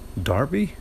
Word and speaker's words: Derby: misunderstanding I'm referring to Derby County the the championship football team English football team Oh Derby yeah that's right Derby Diaby Derby Dobby Darby yeah we sort of pronounced it w I mean